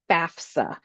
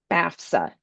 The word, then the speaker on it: FAFSA: FAFSA. FAFSA. It is so important we pronounce this correctly because it's an acronym and it stands for Free Application for Federal Student Aid.